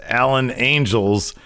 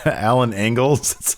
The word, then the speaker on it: Alan Angels: Lance Archer Jake Roberts is his client versus Alan angels Jericho kept on getting his name wrong that's a classic Tirico thing man oh that was good he called Oh what did he call him Alan angles yeah yeah and a couple other things man